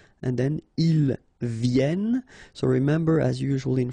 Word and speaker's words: viennent: And then ils viennent. So remember, as usual in French, when we talk about conjugation, E-N-T at the end, you don't pronounce it here.